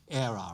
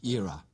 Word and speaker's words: era: The Americans pronounce era, right? The British say era, all right?